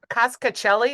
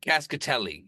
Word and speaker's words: Cascatelli: Is it cascacelli? Is that how you say it? Cascatelli. Yeah. Cascatelli.